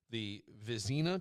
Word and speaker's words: Vezina: He won the Vezina Trophy.